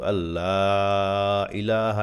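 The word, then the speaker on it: أَنْ لَا إِلَٰهَ: টান হবে এক আলিফ এই তিনটা হাইপেন দেওয়া আছে তার মানে হলো তিন আলিফ টান হবে এই যে আশহাদু আল্লা ইলাহা এখানে তিন আলিফ টানতে হবে আশহাদু আল্লা তে তো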